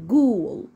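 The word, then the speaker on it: ghoul: وليها اصوات تاني برض الجي والاتش لو جت معايا في اول الكلمه بنطقها ازن ج زي كلمه ايه جوست جوست اللي هي معناها شبه وكلمه غول اللي هي جول جو جول الجي والاتش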